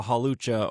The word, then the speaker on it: Hawlucha: now they know they can get like a Hawlucha or Stonejarner or I said it right, or a Kangaskhan, right?